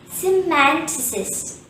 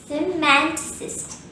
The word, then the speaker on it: semanticist: see man to sister the second syllable man is stressed and there are two schwas in this world hence the correct pronunciation will be semanticist semanticist repeat after me semanticist semanticist a sociologist a